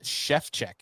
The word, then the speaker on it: Szewczyk: Hers was Shevchek is how you pronounced it.